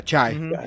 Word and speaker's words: Chai: when you have uh was it is it chai is that how you say it yeah yeah chai uh have him in a Killer Instinct with